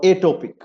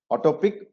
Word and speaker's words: atopic: And what is that atopic hypersensitivity or atopic? Atopic or atopic, both ways it can be pronounced, which is nothing but